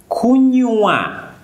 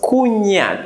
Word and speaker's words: kunywa: Very important here, it is very, very, very important to pronounce the W. W is very important to pronounce. Kunywa. Instead, don't pronounce kunya. If you don't pronounce the W here, you will say kunya.